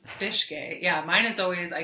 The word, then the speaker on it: Bicskei: listening to the podcast if you ever wanted to know how to pronounce my last name it's fish gay yeah mine is always